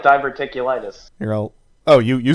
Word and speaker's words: diverticulitis: type of cancer yeah it does sound like diverticulitis you're all oh you you said it right obviously my friend here has an education oh diverticulitis oh is that what he said yes diverticulitis